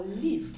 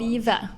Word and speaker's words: Liv: Oh, Liv, I have to pronounce. Lieve.